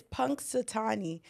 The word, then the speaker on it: Punxsutawney: Oh, it's Punxsutawney. Sorry, I just really had to figure that out because it was going to piss me off. So basically, that little Punxsutawney or whatever, that little idiot, he comes out,